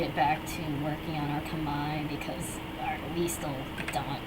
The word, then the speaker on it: Khmer: Freaking Khmer, that's how it's spelled, but people always pronounce it as Khmer, and it makes my heart hurt because that's not how you pronounce it. It's just written that way because that's how it's technically spelled in Khmer, but you see, when there's an R placed at the end, it's silent.